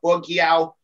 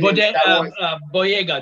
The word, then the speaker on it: Boyega: Tom Holland, John, I always pronounce his name wrong, but Bogiao, he plays Finn. Boyega, John Boyega.